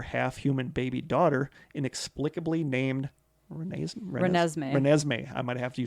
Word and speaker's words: Renesmee: Renesmee.